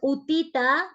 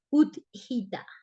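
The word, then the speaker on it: Utthita: Entonces, Utita, que los que preguntaban que cómo se escribía, se lee, uno dice Utita, pero en realidad es Uthita, Utita, ¿no? Y de hecho no se pronuncia la última, ¿sí?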